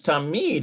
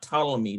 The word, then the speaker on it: תמיד: I think this Tamid is, oh, it's always, that's right. It's not Talamid, it's Tamid, it's always.